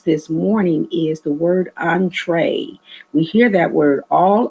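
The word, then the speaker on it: entrée: means at all but entree pronounced just the way i said it on like on hyphen t-r-a-y tray on tray it is a french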